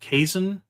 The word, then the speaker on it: Kazun: It's spelled Kazun, but it's pronounced Kazun. Oh, I'll remember that. Jason. Yeah. Like Jason, like Voorhees.